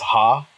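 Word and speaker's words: ห้า: in the Thai language the 5 is ha that's how you say it so people write 5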